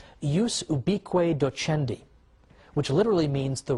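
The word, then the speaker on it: ius ubique docendi: in in Latin and I'm using the church pronunciation use ubi Cueto Chen D which literally means the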